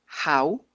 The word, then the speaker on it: how: wh que es How este se pronuncia con una J How y con una u al final y este en su